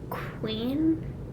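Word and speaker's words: kouign: a Danish called like Queen and it's like like okay but it's not like Queen like q-u-e-e-n it's like let me let me spell it's it's k-o-u-i-g-n hold on foreign it's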